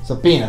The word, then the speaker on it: subpoena: will never go back into soponia somebody subpoena subpoena that's it i can never pronounce that word right okay i'm done with